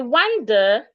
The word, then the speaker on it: wonder: I wonder why he wanders the bush. I wonder why he wanders the bush. The W, the the one that has letter O as the a sound.